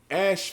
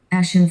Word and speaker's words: ashen: do they stand there Ash faced Ash faced hands pressed against their sides like a woman in labor let me get this real quick pronounce it correctly Ashen face Ashen face damn what